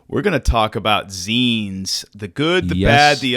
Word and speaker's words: zine: We're going to talk about zines, the good, the bad, the ugly, Zymo, whatever they're calling it. We're going to Zine. It's pronounced zine.